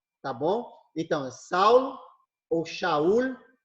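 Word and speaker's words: שאול: Paulo em hebraico é shaul shaul tá ok quando foi para o grego virou Saulo ou Saul Tá bom mas a pronúncia em hebraico é shaul Tá ok passando para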